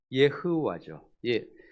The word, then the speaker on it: 여호와: 발람은 여호와께 묻습니다. 그리고 9절에서 대답하시는 분은 하나님으로 말씀은 표현하고 있습니다. 이 여호와, 예흐와죠. 이스라엘 발음으로는 예흐와.